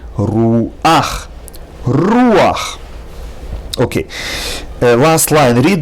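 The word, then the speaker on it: רוּחַ: And instead of saying rucha, which is incorrect, you have to say ruach.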